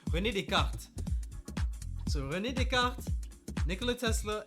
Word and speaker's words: René Descartes: But yeah, I'd say focus on Isaac Newton, Nikola Tesla, and Rene Descartes. Why am I pronouncing it like with the English accent? René Descartes.